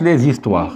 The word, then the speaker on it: les histoires: Il faut faire la liaison entre le S et le H et le I, ça nous donne zi. Ça nous donne zi. On va prononcer, ou bien on va dire les histoires. Ça s'écrit les histoires, mais ça se prononce les histoires.